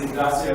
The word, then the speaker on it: Ignacio: It's pronounced Ignacio, ma'am. Ignacio, oh, I'm sorry, Ignacio. Yes.